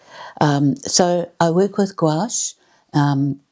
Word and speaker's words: gouache: Um so I work with gouache. Um gouache is a French word and it sounds very strange to pronounce, but it's g o u a c h e.